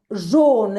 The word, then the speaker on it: jaune: Jaune. Esto es como si fuese una O. O sea, es como si se pronunciara así. John.